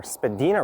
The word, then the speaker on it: Spadina: And I'll have to take a detour as Spadina Road, or Spadina Road, as some will pronounce it, comes to an end